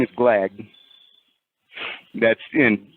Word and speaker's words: Glagg: was his name is glag that's in how I would spell know there's no dictionary and there's no written language but spell it ftic according to his pronunciation of it his name was glog yeah his name GL